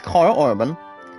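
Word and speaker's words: Karl Urban: But why not Carl Urban? It's pronounced, guys, as Carl Urban.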